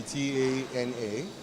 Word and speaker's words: Tana: And my initials used to be T-A-N-A, and so you hear some people pronounce it Tana, Tana.